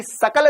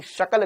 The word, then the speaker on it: शकल: शकल बेंगन जैसी है तेरी सकल बेंगन जैसी नहीं है तेरी शकल बेंगन जैसी श शक्कर का स सपेरे का यहां लिखा है सपेरे